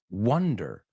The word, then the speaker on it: wonder: starting to wonderand but the other word is pronounced Wonder so think of this sentence I wonder and